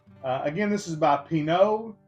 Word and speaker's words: Pinaud: again this is by Pino I believe the D is silent um but this is